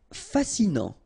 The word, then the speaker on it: fascinant: Fascinant, final T not pronounced, so you get this A-N, en, non, fascinant.